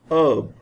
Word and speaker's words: herb: In fact, H is silent. We pronounce it herb, air.